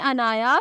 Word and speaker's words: ANAYA: नाम है अनाया, स्पेलिंग है ANAYA।